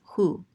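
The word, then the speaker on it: הוא: Anyways, this says u, and this aleph is silent. This is hu.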